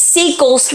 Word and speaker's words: Seikels: It's Seikels mustard, and it's made in Oklahoma, and you spell it S-E-I-K-E-L-S.